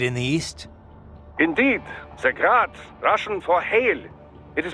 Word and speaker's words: Grad: But most in the business pronounce it as Grad, Russian style.